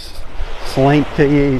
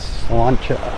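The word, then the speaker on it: sláinte: word cilantro s-l-a-i-n-t-e s-l-a-i-n-t-e a lot of people say slinky slante proper way to say it is cilantro it's a toast it's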